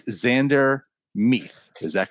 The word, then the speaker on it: Mueth: It's Zander Mueth. Is that correct? Zander Meath. There isn't a second Mueth in Pittsburgh. Right. Zander Mueth.